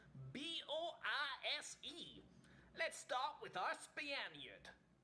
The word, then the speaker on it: Boise: And I got to explain this weird, ultimately it's Boise, in case you're wondering, pronunciation of that town.